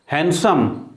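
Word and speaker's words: handsome: Wednesday, Wednesday, ठीक, Wednesday, D यहाँ silent है, डी का साउंड यहाँ नहीं होगा। हैंडसम, आप तो बड़े हैंडसम हैं, ठीक है, बोलते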